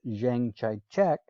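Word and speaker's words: Chiang Kai-shek: the nationalist forces under zhengchaichi also sometimes pronounced zhang chai czech dominated southwestern china protected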